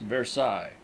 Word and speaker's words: Versailles: Cloud is 7 miles west of the center of Paris and almost 10 miles by rail on the road to Versailles pronounced Versailles.